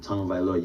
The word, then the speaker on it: Tagovailoa: So the last name, Tagovailoa, you can say Tung-O-Vailoa. I think that's how you say it. Tua Tagovailoa. I'm not going to question it. Say tongue first, and then you say O-H-O-V-A-E, Loa, L-O-A.